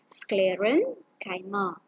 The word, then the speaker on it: sclerenchyma: please take note the spelling and also this pronunciation of the scleron kaima it consists of that cells in that cell